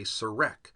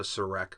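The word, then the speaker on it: serekh: Now, the Horus name was written on something called a serek, and that is spelled S-E-R-E-K-H.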